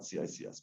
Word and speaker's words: CICS: Kicks is very popular in Europe. CICS is more popular, I guess, in the US, but either way, it's pronounced kicks or it's spelled out CICS.